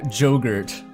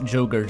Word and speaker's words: Jogurt: Oh, but if you pronounce this in a Swedish way, it is still yogurt. Because the J is just a Y sound, so, I think this works on multiple levels here.